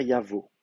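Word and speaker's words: יבוא: En fait, parce qu'on a une voyelle, une consonne aleph, alors elle est certes quiescente, mais d'une part, elle va ouvrir la syllabe, donc on va avoir une syllabe ouverte, contrairement à yakum qui est une syllabe fermée. Donc, la syllabe est ouverte, et en plus de ça, donc avec la gutturale, qui est une gutturale, on va avoir un déplacement de timbre. Donc effectivement, on va dire yavo.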